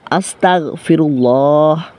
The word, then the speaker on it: أستغفر الله: ইস্তেগফারের উচ্চারণ হচ্ছে আস্তাগফিরুল্লাহ। কিন্তু প্রিয় দর্শক অনেকেই আমাদের দ্বীনি ভাই ও বোনেরা ভুল করে থাকেন যে আসতা গ এর জায়গায় ক উচ্চারণ করে অর্থাৎ গন গনের জায়গায়